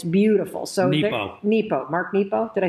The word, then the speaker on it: Mark Nepo: So Nepo. Mark Nepo. Did I say it wrong? Nero. I said Nemo.